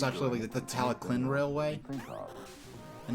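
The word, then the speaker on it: Talyllyn: like a k sound so it's absolutely the teleclin railway and not the tally Lynn which is which is what I thought it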